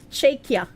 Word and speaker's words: Czechia: It's pronounced Czechia.